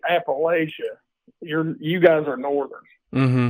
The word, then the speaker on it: Appalachia: Yes, Appalachia.